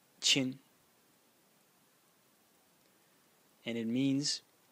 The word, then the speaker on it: 亲: now it's pointing to its sound it is pronounced chin and it means it's pretty hard to translate